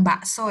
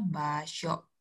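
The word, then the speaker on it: 場所: Jepangnya baso baso Bao Bukan Bakso ya tapi bao bao dibacanya jadinya baso rumah rumah itu ada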